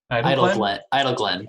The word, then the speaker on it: Idleglen: It seems like Idleglen? Idle Glen. Probably Idle Glen. Shall I? Like idyllic and Glen together in one word.